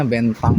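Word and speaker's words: Bến Thành: Mau tas, mau pakaian di Bentan Market. Ini bacanya bentang ya, Bentang Market.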